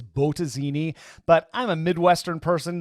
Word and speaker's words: Bottesini: weeks by the way i'm pretty sure the correct pronunciation is botazini but i'm a midwestern